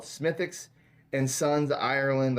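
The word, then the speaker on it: Smithwick's: Smithwick. No, it's Smithfix. It's how it's pronounced. It's spelled Smithwicks, but it's.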